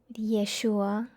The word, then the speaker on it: Yeshua: the light switches anymore Yeshua that's actually how you pronounce his name learn that not too